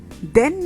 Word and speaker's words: then: sound but not same then is pronounced as hen then hen repeat with me then hen